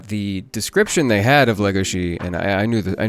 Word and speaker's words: Legosi: in the anime dub we do say Lego she and Ben can tell you better why it's has something to do with a Hungarian pronunciation of the letter s but yeah it is Lego she oh but you know